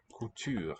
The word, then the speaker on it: couture: But this one, couture, I think, is the model. French for sewing by hand. Haute couture. So first syllable coup, and then second ture. Couture. Coudri. Aktoroj, iru al la teatro.